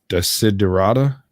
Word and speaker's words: Desiderata: And I always say the name wrong, but it's Desiderata.